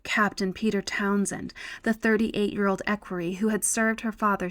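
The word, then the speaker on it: equerry: I keep on saying this. I'm probably even pronouncing it wrong. Let's look it up together. Equiry. Okay, I've been saying it right.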